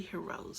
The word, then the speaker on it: Hirose: a-- OSE so I'm I almost want to say Hiro C but he rose I believe it is Midori he rose so it is a